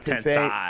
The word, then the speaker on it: Tensei: So Tense E. It's Tensei, not Tensei. Tensei. Okay. Tensei, not Tensei. Like Sensei. Like rhymes with Sensei.